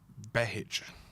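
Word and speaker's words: Behich: Behic. That's how you pronounce it.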